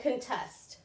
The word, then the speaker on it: contest: So it is on the second syllable, not the first.